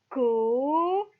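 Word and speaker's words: cognassier: Et on a vu dans la vidéo d'hier que G plus N égale à gneu. Donc, cogne, et il y a deux S entre deux voyelles. Donc, cela se prononce cognacier.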